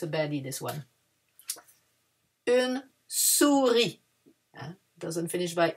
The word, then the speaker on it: souris: Une souris. Doesn't finish by E, but it's une. Une souris. We don't pronounce the S. And the I is a E in French.